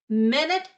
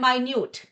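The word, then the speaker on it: minute: मिनट एंड माइन्यूट, इनको बोलने का तरीका अलग है, इनके स्पेलिंग सेम है।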